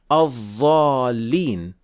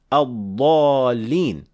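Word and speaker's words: الضالين: Some people, for example, insist on saying al-dhalin instead of the correct pronunciation al-dhalin.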